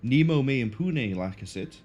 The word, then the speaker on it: Nemo me impune lacessit: Let's try pronouncing that properly. Nemo Me Impune Lakasit.